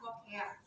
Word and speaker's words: lochia: Kemudian kalau kebersihan yang di sini akan kita lihat adalah lokea ya, walaupun tulisannya lochia dibacanya adalah lokea.